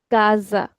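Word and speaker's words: casa: So here these words this will be read as kaza.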